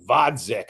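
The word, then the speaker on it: Gvozdyk: God God uh God I think it's vodic I don't think you pronounced the G oh it's a g it's a V with the silent G with the yeah well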